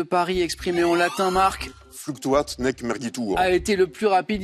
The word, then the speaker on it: Fluctuat nec mergitur: exprimée en latin, Marc, Fluctuat nec mergitur. a été le plus rapide? Il fallait être rapide. Bonne réponse. Il faut bien prononcer là, parce que c'est pas un fluctuat nec mergito, c'est pas facile.